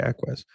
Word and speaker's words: Equus: Oh god, yes, Equus, or I should say Equus. I think that's the proper pronunciation.